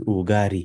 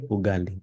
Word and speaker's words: ugali: it like this is ugari. Although some people do pronounce it like that, but it's not their wanting. This is how their language is shaped. Proper way, ugali.